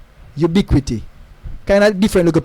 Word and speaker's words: UBQT: I'm gonna go to Boom and say, yo, UBQT, Ubiquity. Kind of different look of pronunciation because where the stress is in terms of penultimate syllable.